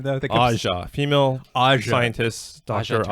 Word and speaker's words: Aja: Aja. Female Aja. scientist Dr. Turner. Aja Turner. It's spelled AJA.